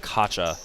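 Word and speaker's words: Okocha: He pronounces it Akatcha, right? JJ Akacha.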